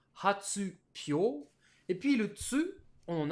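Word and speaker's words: 発表: Quand on les a mis ensemble, ça nous donnerait logiquement hatsuhyo. Mais hatsuhyo, c'est super compliqué à Ouais. prononcer pour un japonais. Du coup, le mot a été transformé avec Hatsubio. l'accent Ah non, Pyo. sur le hi, hein, sur le hyo, qui devient hatsupyo.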